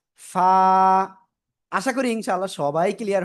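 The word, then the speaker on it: ف: অক্ষরটা কেমন উচ্চারণ হবে নিচের ঠোটের পেট উপরে দুই দাতে লাগান লাগে আমরা উচ্চারণ করব ফা ফা ফা আশা করি ইনশাআল্লাহ সবাই ক্লিয়ার হয়েছেন।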